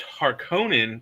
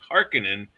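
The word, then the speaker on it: Harkonnen: Sorry, it's Harkonin they say in the movies, but it's Harkinin in his mind.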